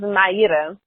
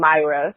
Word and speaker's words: Mayra: My name is Mayra. That's the way that you pronounce it in Brazil. But after a while living in the U.S., it actually became Mayra.